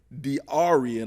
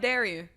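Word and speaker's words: Dearee: get his name right diaran I'm not sure if I pronounced this right are you sure it's not Darion no it is d e a r e e Rogers d e a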